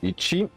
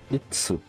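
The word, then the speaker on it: 一: Donc lui il se prononce Ichi et Itsu. Après en konyomi, Hito. Et aussi Hitotsu. Après il peut y avoir d'autres variantes.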